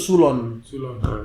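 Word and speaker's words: ξύλον: eh suloh bahasa ee bahasa Yunani bahasa asli D kata DP ejaan fonetik itu sulon sulon yang artinya definisinya ada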